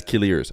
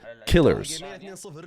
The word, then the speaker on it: Killiers: The way to say that is Killiers. Especially when you see it next to the other way to pronounce it, Killers, which is just spelled not how his name is spelled.